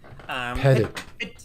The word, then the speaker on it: Petit: Petit would be the correct like French pronunciation. Like that is the accurate pronunciation of that word or name, but it's been Americanized for I don't know how many generations, in my family history or whatever. So we just say Petit.